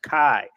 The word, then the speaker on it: chi: looks like X is named Kai which is pronounced Kai the kai was a kind a very hard